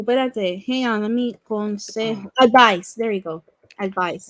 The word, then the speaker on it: consejo: Not Consejo. Joe. No, Consejo. there's no Joe. Like the Because you J pronounce that J as an H, don't you? is pronounced like an H.